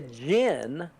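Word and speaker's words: djinn: it says he's the Jin DJ I NN in this is in the book and it says DJ I NN pronounced Jin MH uh which is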